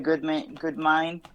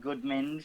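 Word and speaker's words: Goudmijn: So Kenzo Goodmine. The other week I called him Goodminge.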